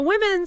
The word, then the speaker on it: women: The women celebrated their victory. Women. Note the O sound is like, I hear.